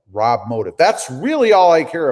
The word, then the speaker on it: RobMotive: Okay, it's said just like it's spelled, RobMotive.